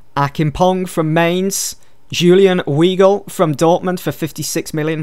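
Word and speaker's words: Weigl: for 22 million Akin pong from Mains Julian Weagle from Dortmund for 56 million that's how you pronounce his name they also signed Jinta from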